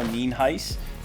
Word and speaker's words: Nienhuis: I'm here with Bob and Bette Jo Nienhuis. And did I pronounce that correctly?